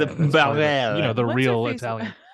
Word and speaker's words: Bareilles: And then Sara Bareilles. That's how they say it. Barel.